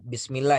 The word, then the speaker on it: Bismillah: Jadi misalnya pada saat pengucapan Bismillah, Bismillah itu mengalir ya. Bismillah, jangan diberhentikan. Bismillah, Bismillah, bukan demikian ya. Tapi dialirkan. Jadi tidak ada huruf yang terhenti. Bismillahirrahmanirrahim. Ya, bukan Bismillahirrah.